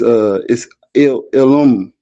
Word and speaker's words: Ilum: It's spelled I-L, but it's Ilum, right? Because his name was Anum. So they said Ilum.